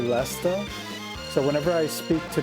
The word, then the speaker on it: Leicester: I have to remind myself that people say Leicester.